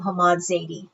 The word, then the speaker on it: Hammad Zaidi: So, please welcome Hammad Zadi. I hope I'm pronouncing your name right.